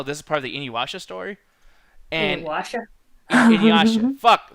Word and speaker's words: Inuyasha: How do I pronounce that shit? Inuyasha.